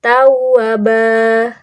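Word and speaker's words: توابا: Contohnya di teks sebelumnya, di harokat sebelumnya, harokatnya seperti ini. Tawaban. Nah, kalau sudah jadi mad iwad menjadi tawabah.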